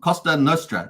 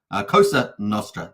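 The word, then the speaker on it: Cosa Nostra: these um uh cost Costa norra is says Lies Beneath yeah thanks for that so just say it correctly Costa kosa Nostra there we go thank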